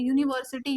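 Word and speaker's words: university: युनिव्ह्सिटी कस आल तर बिकॉज युनिव्ह्सिटी प्रोनन्सिएशन आहे हे य प्रोनन्सिएशन आहे युनिव्ह्सिटी य आहे आणि य हा कॉन्सोनंट आहे आणि कॉन्सोनंटच्या समोर कधीही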